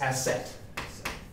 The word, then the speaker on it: acet: the right track now it's not asil it's asset this is an important thing to learn that the common root for two carbons is asset which is similar to